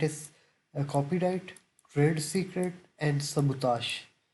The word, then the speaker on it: sabotage: Copyright, trade secret and सबूताश। इस word की pronunciation देख लें, सबूताश। आखिर पे ये वर्ड आता है ताश, ठीक है, सबूताश।